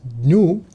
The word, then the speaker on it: GNU: Ideally, GNU is pronounced as new and it's an open source project.